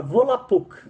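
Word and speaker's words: Volapük: Então, por exemplo, a própria palavra volapuc, né? Volapuc, na pronúncia correta do volapic, eh, ela quer dizer fala mundial, né?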